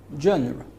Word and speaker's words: genre: it is a noun this term is derived from the french language the french pronounce it as ja but in english we can say it genre january so what is